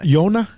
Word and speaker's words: Yona: Yona? Jonah West. Jonah West. How would you spell Yona? How do you spell it?